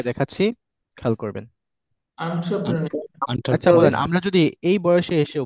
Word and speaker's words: entrepreneur: এন্টারপ্রেনিউর, প্রেনিউর, ইয়েস, এন্টারপ্রেনিউর, প্রেনিউর, not enter, আন্টার হবে, খেয়াল করেন। আমি এন্টারপ্রেনার আমি এটা ওই অক্সফোর্ড থেকে দেখাচ্ছি, খেয়াল করবেন। আচ্ছা বলেন, এন্টারপ্রেনার।